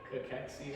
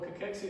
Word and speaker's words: cachexia: Cachexia.